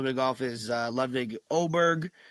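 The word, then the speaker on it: Åberg: For those of you that might watch a little bit of golf, is Levig Oberg. It looks like Aberg, but it's pronounced Oberg.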